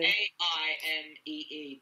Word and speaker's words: Aimee: All right, so I'll write it to you, to Amy, with the accent on the second E. Yeah, it's an awkward one. People usually just go AMY because they're lazy. AIMEE, but the accent on the E.